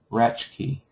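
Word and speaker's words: Raschke: Oh, so the proper pronunciation I'm being told is Linda Ratchki. That probably sounds correct. Linda Ratchki. Ratchki or Rashki?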